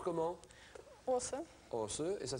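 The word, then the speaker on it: Aase: ça que vous parlez aussi bien le français os ça se prononce comment os et ça s'écrit a a s e e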